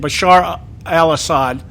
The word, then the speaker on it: Bashar al-Assad: Bashar al-Assad. Yeah, Bashir al-Assad, yeah.